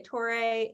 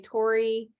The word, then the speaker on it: Torre: was like oh yes do you pronounce the e torey is that how you say it i say it yeah i say toray sometimes i say tori like joe tori i've i've gotten everything